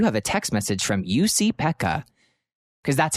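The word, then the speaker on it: Jussi-Pekka: is going to go Jesse Pekka, like I hate that. So I had to write out like, how do you pronounce it? So I wrote UC, like YOUSEE, Peck.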